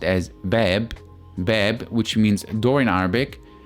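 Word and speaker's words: باب: if you look at this word which is pronounced as beb bab which means door in Arabic now if you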